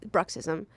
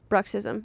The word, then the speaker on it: bruxism: mouth what's it called bruxism it's where you grind your teeth spell it b r u x i s am maybe adjacent to Marxism yes it's communism for